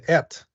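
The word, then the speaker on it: את: word called uh it's it's in Hebrew it's pronounced ET and when when the word at comes into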